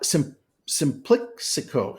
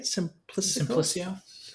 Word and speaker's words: Simplicio: And now Simplicico, is that how you say it? Simplicio.